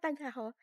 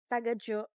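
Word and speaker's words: Tagajō: Not tagaho. Taga jo. Taga jo? Tagao. Taga Joe. Oh anyway, mali 'yung pronunciation ko. Taga ho ako ng taga ho Jo pala. Jay. 'Yung J is not HW Joe. Parang taga Jo ganun.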